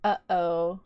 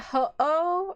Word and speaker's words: Ho-Oh: You pronounce it uh-oh. Like, uh-oh. Oh, is that how you pronounce... So it's not ho-oh or ho-ho. It's uh-oh.